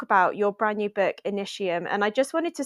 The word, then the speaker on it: Initium: it can't be because there's no sh in Latin it's meant to be initium so I was like